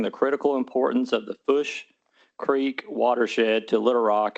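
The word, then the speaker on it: Fourche: Foosh? Foosh, like push with an F?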